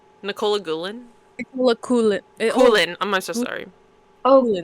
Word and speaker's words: Coughlin: I was saying Coughlin, but it's Coolin.